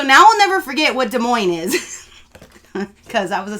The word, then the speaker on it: Des Moines: to read things, because when one of the signs said Des Moines, I read Des Moines because I read phonetically. And I know I got rained out because I said it wrong.